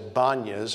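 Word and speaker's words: Banias: Later, the Greeks conquered this area, and they named it Panyas, after the god Pan. Today, it's known as Banyas, according to the Arab pronunciation.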